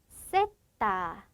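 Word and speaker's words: zeta: 이렇게 되고요 얘는 명칭이 셋다 그래서 요렇게 사용을 해 주는데 즉 Z 소리가 쌍 시옷의 소리를 난다네 렇게 기억을 해 주실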